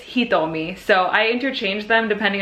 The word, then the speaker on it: Hitomi: Hitomi, it's almost like the T is a TH. Hitomi.